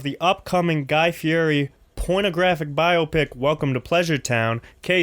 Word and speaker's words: biopic: upcoming guy fury pornographic biopic welcome to pleasure town kay Spitzer you know the vibes let's get to it I believe it's pronounced biopic we're gonna do this